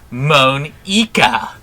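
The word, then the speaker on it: Monika: it's writing your name moan eka like ink i think it's going to be moaning this way when i bend you over a barrel just just wait for it that's not how you say my name at all also that jake joke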